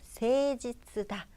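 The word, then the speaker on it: 誠実だ: 지브리 이거 돼지 쓰다 한자어 그대로 세지 뜨다 라고 발음합니다 아 그러고 두 번만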